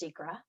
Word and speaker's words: SEQRA: Environmental Quality Review Act, SEQR, though it should be pronounced SEQRA, and the provisions of